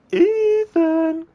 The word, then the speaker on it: Ethan: No, Mia, it's Ethan.